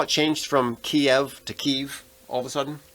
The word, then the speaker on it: Kyiv: Now you have to say Kyiv. It was always Kiev. It was always Kiev. For my whole life, it was Kiev, and then suddenly it's Kyiv because that's like the Ukrainian pronunciation.